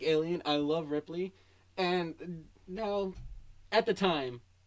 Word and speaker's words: Ripley: but ah man like i always say her name wrong ripley right ripley yeah because for some reason for some reason i want to say ridley and i'm like no